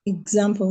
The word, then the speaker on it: example: So, the E will make what sound? Example. Yes. So, what sound will the E make, ma'am? Example. Example. Example. Will what make I can sound the E make you said you're not stressing the E. So what sound will it make? Sorry or a E. Example a not e a a. Yes. It will make the a sound.